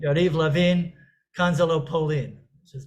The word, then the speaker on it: Levin: And Yariv Levin, who is the deputy prime minister, his name rhymes with how the Pauline is pronounced in Hebrew. So she was saying, Yariv Lavin, Kanzalo Pauline, which is not, it's not Poland here.